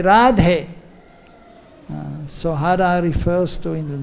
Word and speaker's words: Radhe: But when we call out to her, then we say Radhe.